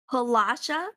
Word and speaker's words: Palasha: the mermaid looks up atalia my name's palasha palasha palasha how do you spell that p a l a s h a